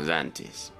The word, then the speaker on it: Xantis: C'est bizarre, on prononce vraiment Xantis. Exactement, Xantis.